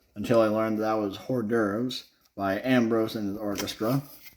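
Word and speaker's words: hors d'oeuvres: good hot Jazz amazing uh Arrangement there uh hores dears as I used to pronounce it until I learned that was hor dures by Ambrose and his orchestra uh learned that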